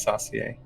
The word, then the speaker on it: saucier: sauce cook or saucier pretty sure it's saucy saucy but saucy i don't know how to pronounce it it's like sous chef but yeah it's saucier yeah finally thank you yeah that is that is correct saucy pixar has enlightened